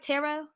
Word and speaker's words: tarot: me chart reading and am i saying that right tarot like is it yeah you're saying it correctly so tarot is more